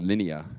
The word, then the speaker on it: Linea: I just like to pronounce it as Linea instead of Linea, which may be the right way to say it, but Linea sounds cool.